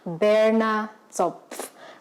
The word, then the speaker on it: Berner Zopf: bread, and it's Sunday perfect, and it's called Berner Zopf. I'll write it down over here so that you guys can pronounce it with me. Say it, Berner Zopf.